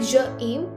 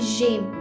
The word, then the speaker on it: j'aime: And the pronunciation would not be like je aime, it will be j'aime. We'll be joining je and aim, so j'aime.